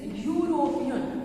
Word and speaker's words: European: It is, we pronounce or we give the sound like Y-U plus R-O-P-E-A-N. It is European.